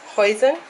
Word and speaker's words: hoisin: Esta, ¿cómo se pronuncia? Hoisin.